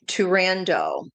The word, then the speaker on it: Turandot: Yes, it's Turandot.